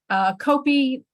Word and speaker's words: Copi: Copi, great mouthful as a name goes. That sort of hard C at the beginning, the short I at the end.